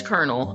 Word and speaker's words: colonel: So it is Colonel. Okay. I was losing my mind. I hate the way that's spelled.